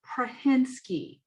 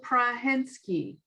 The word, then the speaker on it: Prahinski: the best way possible dr prahinsky you speak with phonics prahensky no not phonics well i get you